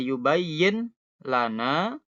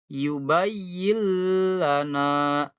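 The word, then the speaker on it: يُبَيِّن لَنَا: bimminillana ditahan dulu berikutnya ada nun mati ketemu lam ya yang awalnya yubayin Lana jadi yang benar adalah yubayyillana ya nunnya hilang jadi lam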